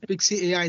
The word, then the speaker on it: Pixci: uh it's called I don't know how to pronounce it is it pixie pixie AI is that you saying pixie AI That's it 6ix AI it says let AI